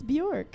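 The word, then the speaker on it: Björk: how you say Bajork? It's Bjork.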